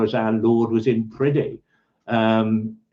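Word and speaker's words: Priddy: definite as sure as our Lord was in pridy um p r i d d y I think you pronounce it um It's seems to be that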